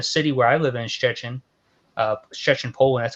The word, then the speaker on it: Szczecin: It's actually in a city where I live in, Szczecin, Poland.